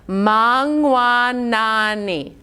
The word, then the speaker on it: mangwanani: have mangua nani so notice that i did ma by itself and then you have all in one syllable so we're going to do that saying sound that we did with like ring or hung or rung that sound is going to make this middle syllable mwah very good so let's